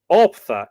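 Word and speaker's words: auptha: carrying love charms, unquote, which are there called Optha, A-U-P-T-H-A.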